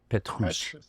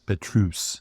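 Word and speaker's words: Pétrus: Did I pronounce that right? Petrus. Petrus.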